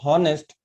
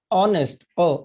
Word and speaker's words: honest: है, we pronounce it honest, or if we pronounce wrong honest, then we become confused. But if you know that honest, though the word start with H letter, but we pronounce H is silent, we pronounce honest, a sound.